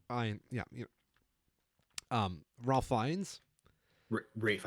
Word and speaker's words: Ralph: yeah um Ralph fines Rafe I think is how it's pronounced Rafe my apologies I honestly don't know for sure yeah I'm terrible celebrities yeah Wikipedia it's Brave which is weird because it's spelled Ralph yeah Rafe finds is like